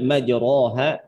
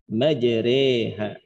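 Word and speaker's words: مجراها: Jadi bacanya bukan lagi dibaca dengan majroha, tapi bacanya majreha.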